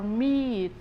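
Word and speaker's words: มีด: it the M sound I will give you one example that you so that you can pronounce it easier um it's when it's like when you say meat in English but meat ends with the tea sound a knife or meat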